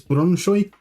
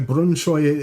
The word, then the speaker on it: Brønshøj: Um, I I have I have found people who pronounce it as Brunoy. So, Brunoy it will be from now on.